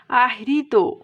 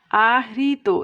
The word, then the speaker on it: আহৃত: একইভাবে আহৃত, আহৃত, এই যে হয় রিকার, এটা আমরা এভাবে লিখতে পারি আহৃত, আবার এভাবেও লিখতে পারি, দুটোই রাইট।